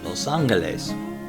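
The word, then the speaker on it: Los Ángeles: has varied over time spoken correctly in spanish it would be los angeles that is with an o sound in the lows and in heart well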